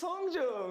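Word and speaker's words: Hongjoong: Pronounce their names. Hi, my name is Songhwa. My name is Hongjung.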